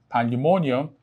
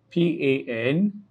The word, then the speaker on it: pandemonium: Now, the rule indicates that if a word ends with the suffix, and what's the suffix? The I-U-M. Then the main or primary stress would fall on will fall on the penultimate syllable.